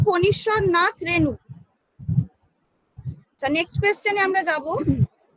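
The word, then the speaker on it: ফণীশ্বরনাথ রেণু: নাথ রেনু ঠিক আছে ওটার উচ্চারণটা হবে ফনিশ্বর নাথ রেনু আচ্ছা নেক্সট কোশ্চেনে আমরা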